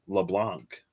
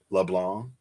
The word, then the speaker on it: Leblanc: but persona five and i thought it was leblanc or something but it's like leblanc i'm like wyatt you don't pronounce the c in leblanc i don't know anyway